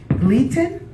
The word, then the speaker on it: Gleaton: So I did, and it's Gleaton. Okay. And I put an R in there, and I'm sorry.